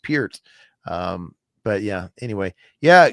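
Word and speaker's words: Peart: people still to this day call him Neil Pert even though it's been on record that hey my name's actually pronounced Pier.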